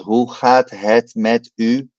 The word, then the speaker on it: hoe gaat het met u: The O and the E is a oo, and ga, the G is always one of the most difficult sounds in Dutch. It comes from the throat and it sounds like